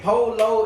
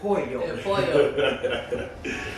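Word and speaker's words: Pollo: It ain't Polo, it's Poyo.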